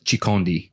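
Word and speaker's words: chikondi: my wife let me forget that the correct pronunciation is shikhandi which means love in the native language of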